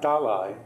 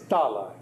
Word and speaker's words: Dalai: my day on pronunciation it's not dalai although I myself you know I slip into doc Dalai it's dollar and it's a long top top hi dolly dolly